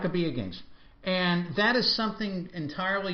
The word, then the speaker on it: Maccabi: Now, I understand there is also if I'm pronouncing this correctly, the Maccabi Games? Maccabi Games. Right? Maccabi Games.